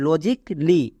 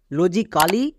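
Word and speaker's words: logically: tips আছে মনে রাখার সি এ ডবল এল ওয়াই থাকলে কলি উচ্চারণ করবা যেমন দেখো লজিকলি বেসিক এখানে এর পরে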